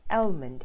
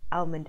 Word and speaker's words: almond: Now, you do not pronounce the L in the middle. You do not say almond. You do not say, I want almond milk. No, it's actually, the L is silent. So you say almond milk.